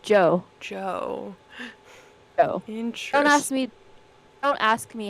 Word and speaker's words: Djo: Is that how you say DJO? Yeah. That's how you say it? I thought it was DJ. Yeah, it's just Joe.